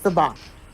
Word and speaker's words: Siobhan: Siobhan. Siobhan. It's a weird, but that's exactly how you're supposed to say it. It's Siobhan. Saban.